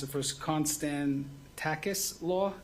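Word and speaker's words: Konstantakis: We'll pronounce it first. Constan Takis Law.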